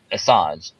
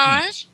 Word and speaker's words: Assange: So Assange, if I say his name right, how do you pronounce his name? Assange.